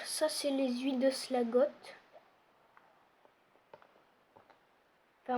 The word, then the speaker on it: Slagtoth: c'est les huiles de slagotte enfin moi je dis slagot après il y en a qui disent slagtot parce que ça s'écrit slagot pas besoin de tout